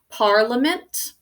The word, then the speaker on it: Parliament: of writing the whole word correctly okay we pronounce this word as Parliament so gonna underline are the pirate monogram that